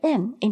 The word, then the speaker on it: 你: you, and the letter N in the pinyin is pronounced as N, and the letter I is pronounced as E, and the pinyin follows the third tone.